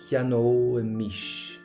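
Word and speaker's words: cheannóimis: Cheanóimish. Cheanóimish. So we get that O imish sound in it, and we covered the pronunciation on it last week.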